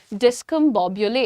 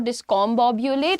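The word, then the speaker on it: discombobulate: इससे कंपेयर कर लीजिए डिस्क मोबले इट्स नॉट डिस्कॉम बुलेट इट्स डिस्क मोबले किसी को कंफ्यूज कर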